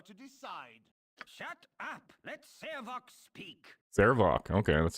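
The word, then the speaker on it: Sarevok: Let Sarvok speak!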